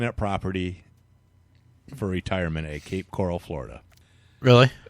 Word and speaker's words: Cape Coral: you can you see Cape Corell it's Cape Coral you know I'm going